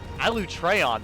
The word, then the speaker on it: Alatreon: Alatreon, that's how you say his Non-elemental fucking weapons name? Won't be of much use, huh? Hunters, you got that? Alatreon.